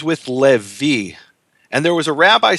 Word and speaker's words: Levi: word he pronounces as Lewi. And the answer is the rabbi in Israel, who was a native Hebrew speaker, pronounced it Levi, because the original Hebrew vav is a v, not a w.